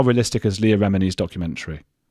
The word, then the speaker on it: Leah Remini: Uh Jennifer Roberts asks, how realistic is Leah Remini's I I I can never say her name. What is it again, Chris? Leah Remini. Leah Remini. You put it on the first syllable, Remini.